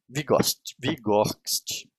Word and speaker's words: Vygotsky: Me desculpa, mas esse nome é Vygotsky. Vou ler como se escreve.